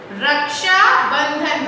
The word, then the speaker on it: Raksha Bandhan: बहुत big spelling है, easy way to learn is रक्षा, R-A-K रक्षा, रक्षा, बंधन, B-A-N बन, D-H-A-N धन, तो रक्षा बंधन.